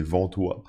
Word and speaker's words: Ventoy: Donc cet outil, ça s'appelle Ventoy. Alors Ventoy, ou je sais pas, peut-être si vous le prononcez à la française, c'est Ventoy, mais ça s'écrit V-E-N-T-O-Y